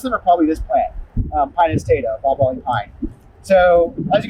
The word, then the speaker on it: Pinus taeda: People pronounce that differently. I pronounce it Pinus taeda. Sometimes you'll hear it taeda or something like that.